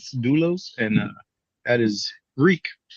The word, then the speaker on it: Doulos: it right that's you Eddie oh so it's doulos uh do L doulos and uh at his Greek for a bond